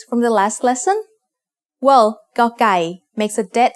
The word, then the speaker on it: ก: It is like trying to say a C sound but without letting any air come out of your mouth. Gokai is one of only two Thai consonants that doesn't have a head.